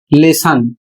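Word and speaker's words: lesson: तो यहां पर देखिए एल E double S ओ एन और इसका उच्चारण होता है लेसन।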